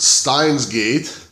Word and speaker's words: Steins;Gate: I have here today I believe is pronounced steins gate I'm not understood sure